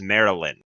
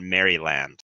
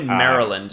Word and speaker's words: Maryland: where I learned that it's pronounced Maryland not merry land yeah it's definitely Maryland you don't pronounce the